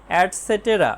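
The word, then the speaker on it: et cetera: project work প্রকল্প কাজ ইটিসি এর উচ্চারণ হবে অ্যাডসেটেরা মানে ইত্যাদি ইন মানে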